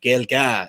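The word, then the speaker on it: Gaeilge: but it's actually Irish gilga is how you pronounce it in Irish so that's probably where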